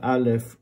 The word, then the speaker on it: aleph: is not an a the sound of alif is whatever vowel it takes they say it's crescent but